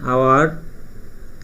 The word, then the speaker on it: hour: An hour, এই silent আছে, দেখো এখানে।